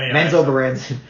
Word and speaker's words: Menzoberranzan: How do you pronounce the name of this? Mesoberanian? Menzoberranzan.